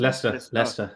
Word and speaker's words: Leicester: Xi Jinping is saying your views on Islamist attack in, how do you pronounce Leicester. the city? Leicester.